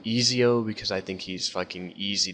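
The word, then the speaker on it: Ezio: dampier and uh yes I'm fully aware it's pronounced eziio I call him EO because I think he's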